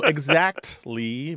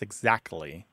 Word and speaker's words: exactly: Look, there's two common pronunciations of this word throughout the English-speaking world, no matter where English is spoken. And in your household, they both exist. Exactly with a T and exactly without the T sound.